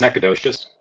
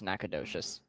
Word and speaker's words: Nacogdoches: Dan, how do you pronounce that town? That's Nacogdoches. Nacogdoches? Yeah. That is not what I was going to say. I can confirm it is Nacogdoches.